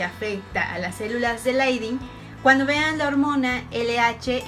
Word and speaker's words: Leydig: Esta hormona afecta principalmente a las células de Leydig, que se escriben Leydig, pero bueno, ya habíamos dicho que se pronuncian Leydig.